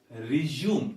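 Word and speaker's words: résumé: uh listen to this resume this is resume and this is resume actually this word does not belong to english and it has come from french or perhaps another word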